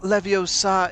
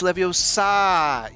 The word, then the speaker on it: Leviosa: it the right way it's not leviosa it's leviosa you have to say